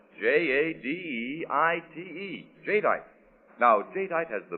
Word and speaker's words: jadeite: And that's spelled J A D E I T E.